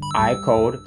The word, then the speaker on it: AIKODE: is I code pronounced iode kind of similar to how you pronounce the name IO oh that's the answer